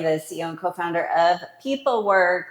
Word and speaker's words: pepelwerk: CEO and co-founder of people work remember we are spell phonetically PE p w e r k it's always nice